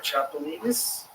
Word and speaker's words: chapulines: They call it chapulines.